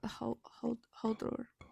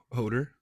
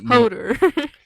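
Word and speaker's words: Höðr: Holder. Hoder. Yeah, you can say it like American. That's fine. Okay. Hodder.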